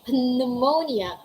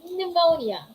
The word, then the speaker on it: pneumonia: say pterodactyl all right we don't say pneumonia we say pneumonia we say pneumatic all right if that's the combination letters of p s p t and p n letter p is silent take note of that